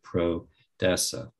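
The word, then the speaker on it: prodesse: It comes from the word origin of proud, which is a Latin term, and it's spelled P-R-O-D-E-S-S-E, pro-dessa.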